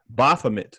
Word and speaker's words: Baphomet: off tonight tonight uh i always forget how to pronounce this word but i think it's baphomet uh this is from